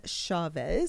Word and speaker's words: Chavez: Chavez.